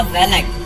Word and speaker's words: Valak: Pronunciation same था वेलक, but spelling में last में सी था।